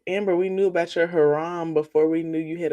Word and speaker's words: haram: Cuz herm is spelled haram is spelled h a r n. So you mean haram.